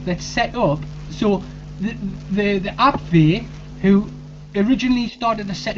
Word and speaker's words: Abwehr: So in the German Abwehr, it's pronounced Abwehr, but it's spelled A-B-W-E-H-R.